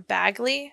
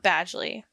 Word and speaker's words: Bagley: this entire time and the town is called henford on bagley not badly so my bad um